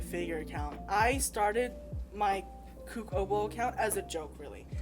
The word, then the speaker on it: KooK0w0: probably be like, you know what, yeah, I'm KooK0w0.